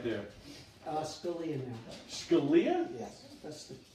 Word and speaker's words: Scalia: Scalia? Yes, that's the right pronunciation.